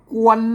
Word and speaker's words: กวน: เขียน ใช่ มั้ย อ่า อ่าน ว่า กวน นะ ครับ ไม่ ใช่ ควร นะ ท่าน ต้อง อ่าน